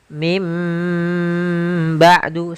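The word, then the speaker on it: من بعد: Contoh lagi, misalkan min ketemu dengan ba'du, maka kita bacanya dengan bukan min ba'du, tapi mim ba'du sambil ditahan dengan gunnahnya.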